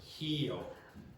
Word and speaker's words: Rio: The R at the beginning of syllables is pronounced like a H. So you're going to hear, so most of you, for that city in Brazil, you will pronounce it like Rio or whatever, etc. It will be a standard r sound, okay? But for Brazilians, they pronounce it like that. Okay, it sounds like heo.